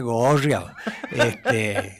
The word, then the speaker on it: gorreado: En realidad, para pronunciarlo bien en Córdoba sería gorreado, más o menos.